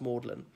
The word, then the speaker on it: Magdalen: gathered below moorland tower morning as one of the college's of oxygen Aversa tea its belt Magdalene but pronounced maudlin and more than Tower for centuries was the